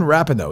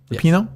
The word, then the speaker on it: Rapinoe: Like Megan Rapinoe, is that how you say her name? Rapinoe?